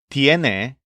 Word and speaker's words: tiene: All of their conjugations stress the syllable yen. Tiene for the store owner, tienes for the kid, and tienen for the pandas.